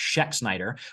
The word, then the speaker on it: Schexnailder: just like everyone said my name is Dr and it's pronounced Sheck Snyder but I don't expect